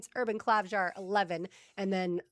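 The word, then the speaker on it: Klavžar: You'll see him out there a little bit more when it comes to, how do you say it, Klavjar? Klavjar, yeah.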